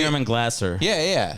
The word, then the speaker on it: Yurman Glaser: I think you pronounced it right. Like the day of. No. It's Yurman Glaser.